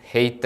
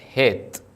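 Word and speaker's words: ܚܝܬ: ആദ്യം ഹേത്ത്, അത് കഴിഞ്ഞ് യൂത്, പിന്നീട് താവ്. ഹേത്ത്. ഹെയ്ത്ത് അല്ല, ഹേത്ത്.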